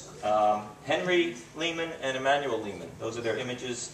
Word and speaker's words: Lehman: Wing I mean the often I hear the pronunciation Layman which is probably closer to the German right but but in America we say Leman uh it sounds harder it sounds uh um